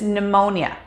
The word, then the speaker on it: pneumonia: hear in daily life such as pneumonia or pterodactyl in these cases simply pretend that the p isn't there when pronouncing the word let's try some practice